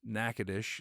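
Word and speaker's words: Natchitoches: for a couple nights if you're from Louisiana it it's nackadish you know it's one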